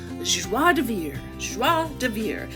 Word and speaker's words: joie de vivre: Okay, I had to look up the pronunciation. It's joie de vivre, and it means hearty or carefree enjoyment of life.